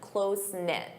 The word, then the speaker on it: close-knit: You can say, "I'm from a close-knit family." Closen-knit. Notice that pronunciation, close-knit.